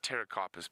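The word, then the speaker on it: Pterocarpus: a Terra carpus well it's actually Terra carpus but it's spelled PT Terra carpus rund Folia so rund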